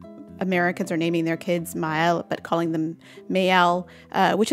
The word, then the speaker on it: Maelle: to one another that they should be pronounced separately so they don't blend together so it's ma oops so it's mile it's kind of like